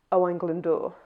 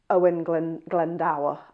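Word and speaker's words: Owain Glyndŵr: So I say Owen Glendor, not Owen Glen Glendau.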